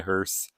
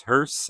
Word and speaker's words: hearse: I believe it is hearse. I think earlier in the video I was pronouncing it Hearse, kind of like Porsche, but I think it's hearse.